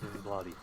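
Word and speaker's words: złoty: Zloty.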